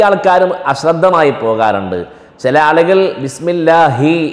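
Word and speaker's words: بسم الله: ചില ആളുകൾ ബിസ്മില്ലാഹി എന്നുള്ളതിന് പകരം ബിസ്മില്ലായി എന്നും ഉച്ചരിച്ചു വരാറുണ്ട്, കാണാറുണ്ട്.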